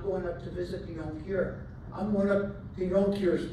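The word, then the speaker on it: Jonker: had a different word spelled j o n k e r with a soft J he was a young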